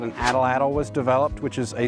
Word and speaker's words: atlatl: so let me just atlat atlat is this interesting thing happening at the end of that word where there's a t and then the the breath coming out kind of like makes